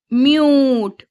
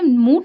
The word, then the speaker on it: mute: ई यूज यूस ख ट क्यूट क्यूट ट म्यूट यहां पर आपने एक बात नोटिस की होगी जब मैंने इसको पढ़ा तो मैंने कूट नहीं पढ़ा यहां पर मैंने मूट नहीं पढ़ा मैंने पढ़ा क्यूट म्य तो आप